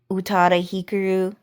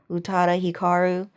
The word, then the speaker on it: Utada Hikaru: that, like Hillary Duff, Utada Hikaru, Utada Hikaru. You can pronounce it both ways.